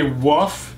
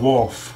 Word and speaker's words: wolf: I did nothing wrong when people say woof instead of wolf excuse me woof that's